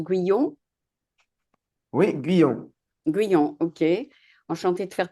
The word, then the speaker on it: Guyon: Alors, bonjour, ça se prononce Guyon? Oui, Guyon.